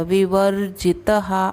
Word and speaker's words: विवर्जितः: ज पे रफार भी है, छोटी की मात्रा, तो र का उच्चारण ज के पहले रहेगा, विवर्जितः। अब यहाँ पे त के बाद जो विसर्ग है उसको हम तहा भी बोल सकते हैं, तह भी बोल सकते हैं, तो विवर्जितः विवर्जितः।